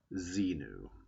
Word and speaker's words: Xenu: Now you could spell it Xemu, and you'd have to say his name was Xemu. But generally people called him Xenu.